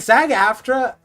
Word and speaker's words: SAG-AFTRA: And SAG-AFTRA, yeah, that's how you pronounce it.